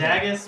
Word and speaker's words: Dagus: His name is Dagus Dagus. because my character immediately thinks of nicknames for everybody. Okay. And his name is like Dag, yo.